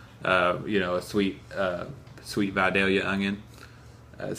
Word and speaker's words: Vidalia: like a Apple you know a sweet sweet Vidalia onion that's how you pronounce it yeah so you buy that youngin